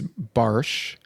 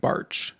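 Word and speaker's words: Bartsch: So Something about technically, the way that you said that is how it's supposed to be pronounced in Germany is Barsch. Barsch. But we have Americanized it to be like Barch. Like March, but with a B.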